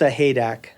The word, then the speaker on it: Sahaydak: Tiff and her husband Tim I'll let him pronounce their last name it's a haak tiff and Tim are head coach and associate